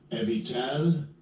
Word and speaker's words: Abital: And this is how they pronounce Strong's H37. Evital.